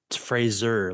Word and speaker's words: Fraser: Everyone says Brendan Frasier. Fraser, like laser.